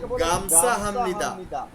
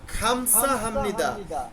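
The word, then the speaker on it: 감사합니다: কথাই আমি শুনতে পাইছি তারা এটাকে বলে গামসা হামনিদা খেয়াল করে দেখেন এটার অরিজিনাল উচ্চারণ হচ্ছে খামসা কিন্তু আপনি যখন বলবেন গামসা হামনিদা কারণ কি এটাকে সবাই বলে গ আপনারা যখন বেসিক বই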